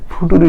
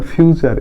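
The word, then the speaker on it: future: নিয়ে অনেক মজা হয়েছে ফুটুরি না ফিউচার এফ ইউটি ইউ আর ফিউচার ফিউচার এফ এর জন্য ইউ এর জন্য হচ্ছে হু আর ইউ ফিউটি ইউ আরই উচ্চারণ হবে চার ফিউচার ফিউচার মানে ভবিষ্যৎ এটা আমরা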